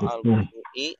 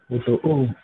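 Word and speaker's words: الوضوء: Kemudian al-wudu, bacanya apa? Al-wudu'u atau al-wudu'i atau al-wudu'a. Wudu'u. Tadi sempat bingung ya Pak Yadi, tapi benar bacanya al-wudu ya. Sebenarnya tidak perlu bingung karena kalau ada isim di awal kalimat ya, maka 90% ini pasti dhammah.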